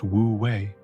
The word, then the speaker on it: Wu Wei: The concept of wooi, pronounced wooi, the cornerstone of tauist philosophy.